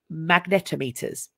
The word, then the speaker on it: magnetometers: at this time the site was discovered using magnetometers oh that's how you pronounce it a device used to measuring the